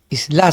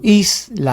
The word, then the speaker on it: isla: Isla sería, ¿no? Isla. Ahí se prolonga, ¿no? Entonces, acá sería en is isla.